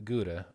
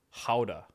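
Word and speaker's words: Gouda: it's all about the the guda or Howa Howa yes is that how they pronounce it apparently they pronounce their G's like hes in the case of that cheese damn h I I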